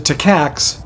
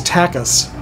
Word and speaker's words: Takas: I pronounced it Takax, but I just remembered you corrected me the last time, and the correct pronunciation is Takas.